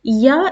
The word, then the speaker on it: ي: going to pronounce it ya is a light letter and ya is uh pronounced with the help of the tongue middle of the tongue so as you can see ya as you as you say yarn in English it is the same sound in Arabic yeah and how are